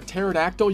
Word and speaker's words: pterodactyl: as difficult as hearing a pterodactyl urinate due to the silent p luckily we do have